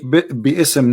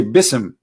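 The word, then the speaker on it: بسم: say you see here you don't say be ISM no more here they say BISM so it's not an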